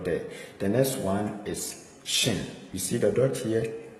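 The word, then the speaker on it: שׁין: The next one is shin. The dot has shifted from here to here. So it is pronounced as sh.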